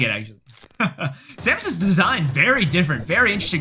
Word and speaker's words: Samus: for uh for samus samus i know it's pronounced samus i was being silly but what are those